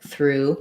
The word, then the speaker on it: through: So for through, that one has the oo vowel. It's going to sound like through. It's actually the same as this one, through.